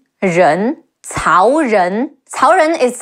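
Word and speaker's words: 仁: Your tongue is curled upward against the top of your mouth. Ren, Ren, Cao Ren.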